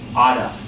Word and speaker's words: ought to: First off, not related to question asking, but the term ought to, in pronunciation, someone might say oughta, okay?